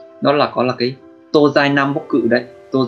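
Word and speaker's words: 東西: Cách đọc của nó là tô dai, tô dai.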